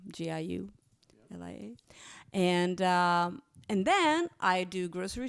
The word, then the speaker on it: Giulia: Julia is spelled with a G, Giulia.